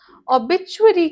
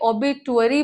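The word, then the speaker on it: obituary: ओबिचुअरी क्या होता है? बहुत लोग इसे ओबेटुरी बोलेंगे।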